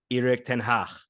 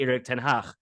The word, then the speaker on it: Erik ten Hag: Like our manager, he would pronounce his name Erik ten Hag.